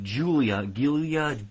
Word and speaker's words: Giulia: Okay, Giulia. Giulia. Got it. Thank you, Jimmy, for letting me know how you say her name.